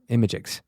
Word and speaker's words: imgix: That's spelled IMGIX, Imagix.